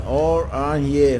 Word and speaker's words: Oranje: Oranje is pronounced Oranje.